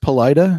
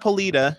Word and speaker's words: Paleta: Sarah Goldman over here she is pronounced polite oh it's not it's not pilita this was explained if